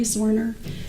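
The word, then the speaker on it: Zwerner: Uh, can you state your name, please, for the jury and then spell it for the court reporter, please? Sure. Zorner.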